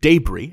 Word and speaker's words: debris: Incidentally, in New Orleans, if you order a po' boy, a sandwich, with debris, accent on the first syllable, you're getting gravy-soaked beef.